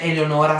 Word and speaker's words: Eleonor: Mi raccomando, seguitemi su Instagram, potete trovarmi con il nickname Eleonor, si scrive come Eleonora senza la finale ma si legge Eleonor, mentre su Facebook Eleonor, e sì, è il mio cognome.